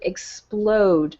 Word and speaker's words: explode: Okay, let's take the word explode, for example. Okay, the word explode ends with an E. All right, but we don't pronounce the E.